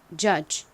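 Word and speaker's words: judge: 중에서 어 소리로 쓰였습니다 그리고 DG d n 소리가 나지 않고는 g 소리가 나죠 발음해 보면 jge jge 됩니다 jge의 의미가 뭔가요 판단하다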